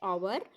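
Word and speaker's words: hour: next है आई am late by dash आवर में यहाँ पे आवर, ठीक है, यहाँ पे आवर की बात हो रही है, यहाँ पे एट साइलेंट है, ओ यू आर आवर, आ की साउंड आ रही है, तो यहाँ भी हम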